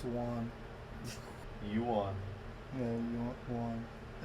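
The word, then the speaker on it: yuan: is racist not w n but it's one youan yeah one I say one they pronounce it one I don't think they pronounce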